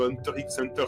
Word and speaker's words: Hunter x Hunter: que tu sais qu'il ne faut pas prononcer le x tu dis hunter a été instituée comme moi et que ton cerveau d'occidental reste à ce mail est l'unique ce soit muet à tuffé hunter x hunter 6 et captive enfin